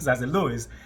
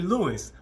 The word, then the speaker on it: Louis: French Lou Lou Louis well in in English it's actually Louis but in French it's Lou so whenever I had